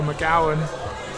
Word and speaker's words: McGowan: The pronunciation for McGowan rhymes with cow, and we should tell GB to get taller.